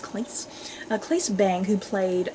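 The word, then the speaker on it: Claes: actors place place bang I think his name is pronounced Cleese a policeman bang who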